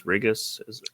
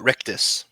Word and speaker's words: Rictus: Rigus? Rictus.